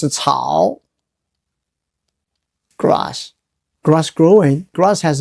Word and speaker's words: 艸: It's pronounced as 草.